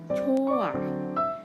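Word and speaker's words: 좋아: Nah ini itu kalau dibaca satu suku kata aja menjadi cut. Tapi karena dia dua suku kata menjadi coa. Jadi yang hanya ini dipindahin kemari. Jadinya bacanya seperti ini teman-teman.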